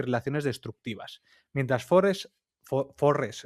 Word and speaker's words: Forrest: Mientras Forest Forest es que siempre me sale más Forest que Forest. Bueno, es la pronunciación inglesa, como forest.